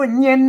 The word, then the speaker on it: เย็น: ยะ เพราะ ฉะนั้น เฮ ต้อง หัน ว่า เป็น ตัว ยะ ไม่ เก หาง นะ อ่าน ว่า เย็น น่ะ อ่าน ว่า เย็น ยัก เย็น น่ะ เย็น ๆ อัน นี้